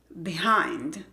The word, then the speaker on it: behind: Behind. La primera sílaba no es acentuada, entonces se pronuncia con ese sonido de E, como en it, behind.